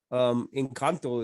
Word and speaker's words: Encanto: Encanto is how you would say it in Spanish.